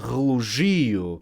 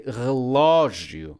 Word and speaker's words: relógio: So without an accent mark, this would be pronounced patria. This would be pronounced facil. This would be pronounced relogio. But no, that's not the case. We say patria, not patria. Therefore, the accent mark. We say fácil, not facil. therefore the accent mark. And we say relógio, not relógio.